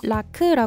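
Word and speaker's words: rakı: 술은 라크 있니다 라크는 영어 스펠링이 라키라키 아고 읽기도 하는데요 티키는 라크라 발음합니다 이제는 터키가 아닌 티키가 됐으니까 라키 라크라 바로 읽어 줍시다 라크는 티키의 전통 술로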